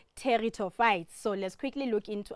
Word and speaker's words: pteridophyte: um is called the terito fight so we've got the silent P there so we don't Sayo but it's called territo fites so let's quickly look